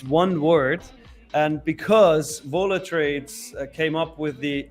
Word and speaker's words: Vola: So if you were to say the word, how would you pronounce the word volatility, Nick? Volatility. Okay. So it's Vola. It's Vola.